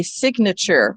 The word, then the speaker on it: signature: But when we split the syllables, signature, we hear both, we hear the both each making their own sound.